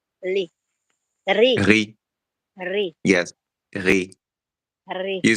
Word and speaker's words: riz: But we don't pronounce the Z at the end. Ri. It's silent.